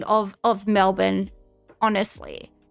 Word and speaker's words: Melbourne: You don't We just need to change the spelling of of Melbourne. Honestly, people that pronounce the R in Melbourne.